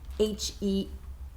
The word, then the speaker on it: Hebron: In Hebron, or how you might pronounce it, Hebron, Hebron, but it's really Hebron.